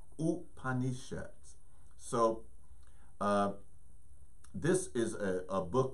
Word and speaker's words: Upanishads: an Indian friend that I used to work with her name is Donna and I would asked her and you know the correct pronunciation of some of these Sanskrit words and she said is ooh honey shots so this is a